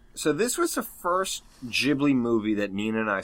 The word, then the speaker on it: Ghibli: Although the Italian word is pronounced with a hard G, the Japanese pronunciation of the studio's name is with a soft G. Ooh. So either is technically correct.